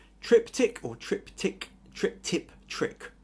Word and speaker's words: triptych: I think Vi says tripick or tripick. Trip tip trick. Trying to catch the word since two weeks without any luck. Okay, it's tripick.